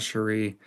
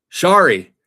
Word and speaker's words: Shari: It's not Cherie. No, it's something else. Shari. Shari. That's what it is.